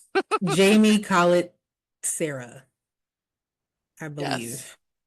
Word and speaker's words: Jaume: which is directed by a person, whose name, Jamie Collett Sarah, I yes, believe. I believe that's yes, how you pronounce it. Jaume.